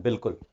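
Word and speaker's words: بالکل: जैसे हम जब उर्दू में लिखते हैं बिल्कुल, बिल्कुल कैसे लिखते हैं? बे अलिफ बा और लाम और काफ और लाम, तो इसमें अलिफ देखें साइलेंट है।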